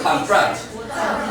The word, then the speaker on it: confront: On the second syllable, we say about confront. Confront.